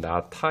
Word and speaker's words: 낳다: 헷갈리는 부분이 있는데요 이제 애를 낳다 할 때 실제 발음은 나타 인데 병이 났다 할 때는 낳았다 지요 여러분이 잘 의식하지 못하지만 잘 들어보면 은 이렇게 발음이 다릅니다 그런데 이렇게 쓰면 은